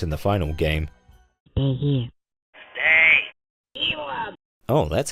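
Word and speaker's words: Elum: Stay elim. Oh, that's how you pronounce it.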